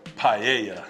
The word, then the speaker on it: paella: like that I'm gonna tell you how to pronounce this this is called a what paella hey with that being said I got CJ